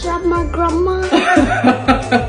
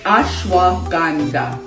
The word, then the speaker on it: ashwagandha: You know how to say that word? Shama grandma. How you say it? Shama grandma. It's ashwagandha.